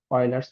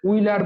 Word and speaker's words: Euler: Pronunciation অনেকে অনেক রকম করে, যারা প্রথমবার পড়ে, কেউ ইউলার বলবে, কেউ উইলার বলবে, কেউ অয়লার বলবে। যাই হোক, এটা অ্যাকচুয়াল প্রোনাউন্সিয়েশন হচ্ছে অয়লার থিওরেম। ঠিক আছে, ইউএলইআর, অয়লার থিওরেম।